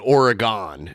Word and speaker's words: Oregon: Well, technically, what we have a town outside of Toledo called Oregon, Ohio, and it's spelled like Oregon, but they call it Oregon, and that's where the first Marco's was.